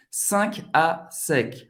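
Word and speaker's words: 5àsec: 5 à sec, para você passar as roupas, né? 5 em francês, 5 à sec. 5 à sec. 5 nasal à sec.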